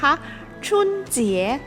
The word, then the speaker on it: 春节: กัน ว่า ชุน จี๋ เรา ออก เสียง ตาม ไป พร้อม กัน อีก ครั้ง นะ คะ ชุน เจี๋ย ตัว ชุน ที่ แปล